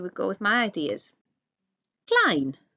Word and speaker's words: klein: Klein, small. Remember the EI makes I sound.